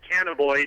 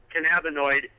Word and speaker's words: cannabinoid: They pronounce it cannaboid instead of cannabinoid.